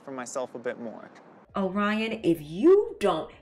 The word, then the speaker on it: Orion: Orion, if you don't, your name rhymes with lion for a reason.